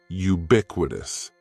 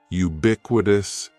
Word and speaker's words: ubiquitous: The first word is ubiquitous, and ubiquitous has 4 syllables. That first syllable is just like you're saying the letter U. Ubiquitous, and the stress is going to be on that second syllable. Ubiquitous, ubiquitous. Ubiquitous means existing or being everywhere.